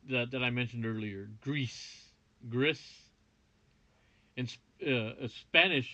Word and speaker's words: Gris: been playing via that i mentioned earlier greece griss and spanish it's pronounced greece and uh i gotta say it is one